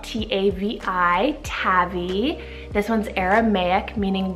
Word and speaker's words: Tavi: Tavi, spelled T-A-V-I, Tavi.